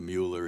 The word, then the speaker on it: Mueller: My mother's maiden name was Stein, and the Mueller is the German pronunciation. So It's Mueller, and I've heard so many people saying Mueller on the other side.